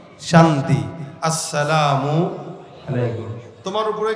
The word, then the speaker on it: আসসালামু আলাইকুম: এজন্য অহংকার মুক্ত যদি হতে চান সালাম দিবেন আগে কিন্তু কিভাবে আসসালামু আলাইকুম শুরুর হামজা আর শেষের মিম এই দুইটা উচ্চারণ ঠিকমত করে দিবেন আমাদের দেশে তো এখন